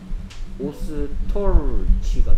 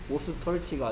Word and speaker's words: ostrich: Ostrich가 됐네요. Ostrich. 오스터치가 아니고요. Ostrich.